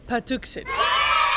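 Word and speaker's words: Patuxet: So we learned how to pronounce it. It's actually Patuxent.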